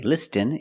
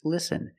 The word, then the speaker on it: listen: Letter patterns where the T is silent. Example, listen and fasten. You see S-T-E-N. With this spelling pattern, you can see the T is silent. Listen. We don't say listen, it's listen.